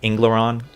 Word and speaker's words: Angleron: The planet we discovered in 2160 AD, Angleron, which I think I'm going to pronounce it as Ingleron, kind of like English.